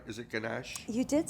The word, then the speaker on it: ganache: Is it ganache?